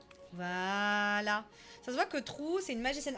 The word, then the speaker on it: True: Ça se voit que Trou, c'est une magicienne. Alors, Trou, attention, ça s'écrit comme True in English. C'est pas un trou, quoi.